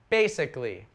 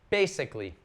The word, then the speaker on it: basically: Basically. Note this, the pronunciation on this A, this first A. It's not basically, basically.